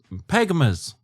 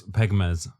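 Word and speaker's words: pekmez: I think it's spelled like pegmez, which makes it kind of sound like pegmas. I don't know, it's like Christmas, but pegging, you know? But no, it's pegmez.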